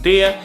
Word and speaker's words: det: For instance, we have det, which means it, and it's mostly spoken det.